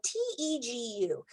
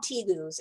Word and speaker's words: tegu: chummy is a tegu tegu is spelled t-e-g-u um sometimes people call him teagues and that's fine too but um here in america we usually pronounce it tegu this is um the